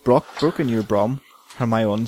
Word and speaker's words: Hermione: I went, Hermione, right? No, Hermione. You pronounced it like Victor Crumb does in book 4.